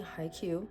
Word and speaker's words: Haikyuu: Speaking of anime, recently I've been watching Haikyuu, and I know that is not the wrong pronunciation because I looked it up on Google yesterday.